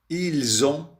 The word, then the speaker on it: ils ont: Ils ont deux mains. Elles ont deux mains. انتبهوا لا il مع on. الاس تلفظ في هذه الحالة زد، والاس أيضا هنا بالمؤنث تلفظ زد.